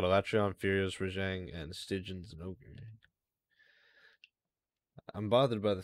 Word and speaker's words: Stygian: So I got a Latreon, Furious, Rajang, and Stygian's Ogre. I'm bothered by the fact it's pronounced Stygian. I always thought it was Stygian.